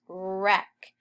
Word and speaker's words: wreck: Our next word is wreck. And remember, a WR that we learned today says R.